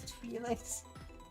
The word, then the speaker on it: Twi'lek: That pronounced Why? Twi'lek, but sure.